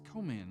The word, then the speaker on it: Coman: And he said, it's Coman, like Soul Man.